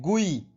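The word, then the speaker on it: guì: आज के इस छठे लेक्चर का हमारे पास जो पहला शब्द है वो है गुई, जिसकी स्पेलिंग है GUI, गुई।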